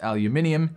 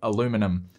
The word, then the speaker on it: aluminium: powerbook g4 and yes that's pronounced aluminium here in australia not aluminum anyway this bridged the